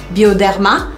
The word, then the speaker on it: Bioderma: Bioderma, lembrando que sempre tem que fazer a sílaba forte no final.